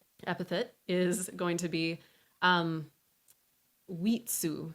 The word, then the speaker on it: Witsu: And then our last epithet is going to be Wheatsu. So this is spelled W-I-T-S-U. Wheatsu.